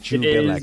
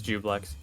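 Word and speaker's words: Juiblex: Jublex, because I keep forgetting that I am pronouncing it It's incorrectly. Jublex. Oh, Jublex, Yeah, not it Jubilex. is- I was saying Jubilex earlier. I think it is Jubilex. Oh, No, it is Jublex.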